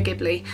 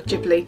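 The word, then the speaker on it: Ghibli: love anime specifically Studio gibli I or jibli depending on how you say it um I absolutely love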